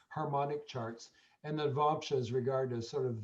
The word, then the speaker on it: Navamsa: And Navamsa, so you can also get, that's how you pronounce it, Navamsa.